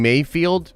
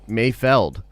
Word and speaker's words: Mayfeld: my god trev says i like saying mayfield but i think it's actually pronounced mayfeld and uh but it's